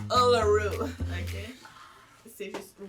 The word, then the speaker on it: Uluru: Ah, désolé pour ça, je ne veux pas vous contredire, mais ça se prononce Uluru. Ok? C'est juste vous prononcer. Guide Nika, c'est écrit Uluru. U-L-U-L-R-U. Uluru.